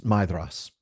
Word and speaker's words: Maedhros: Tari Melalinwe, Maedhros, it's Maedhros. The AE is pronounced I, so Maedhros. And the DH is pronounced TH, like a soft TH, like there or then, not like throw or thank.